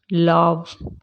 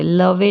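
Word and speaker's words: love: as hate breathe like लव please vegetable इन सब में ई silent है लाइक के नहीं बोलते लाइक बोलते लवे नहीं बोलते क्या बोलते हैं लव हेट जज प्लीज ऐसे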